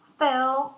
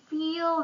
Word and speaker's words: fill: And business example, please fill the form is correct. And most people say please feel the form which is incorrect.